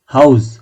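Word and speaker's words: Haus: ভালোবাসি গ্রিল হ্যাঁ হাউজ এই যে হাউজ দেখেছেন কি সুন্দর একদম যেটার উচ্চারণ যেরকম ওইভাবে হচ্ছে ইংরেজির মতো না কিন্তু এইচ ও ইউ এস ই হাউজ ওরকম না একদম হা আ ইউ এস বা হাউ এস ইন্টারেশন অর্থাৎ ইন্টারেস্ট ইন্টারেশন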